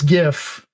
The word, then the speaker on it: GIF: But yes, uh I've joked that I need I've got this gif. I need to figure out how to uh get this gif and put and put uh Orrison platforms behind